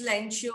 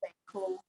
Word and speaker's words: Lencho: His name was, Lancho. Lancho. some says Lencho, some says Lenko, right? I've seen the different pronunciation for this word many times, right? So you can call it Lenko, fine.